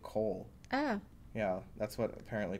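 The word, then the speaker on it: Colle: I've never played the collie. Me neither. Yeah. I don't like the name. Right. Well, apparently the guy's name that's named after, he actually would pronounce it Cole.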